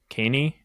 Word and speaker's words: Kaney: He really struggled against Kaney. I'm bad at pronouncing all these names. No, that's exactly how you say it. That one is literally like Kane's E, the ability that goes through the walls.